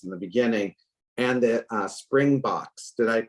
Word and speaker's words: Springboks: The story of Nelson Mandela, and we talked about this in the beginning, and the Springboks, did I pronounce that right? Springboks Yes.